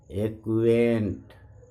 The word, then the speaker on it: acquit: जब किसी शब्द में क्यू यू एक साथ आए तो क्यू यू का उच्चारण क और आधा क और व किया जाता है। जैसे ACQUAINT एक्वेंट परिचय करना।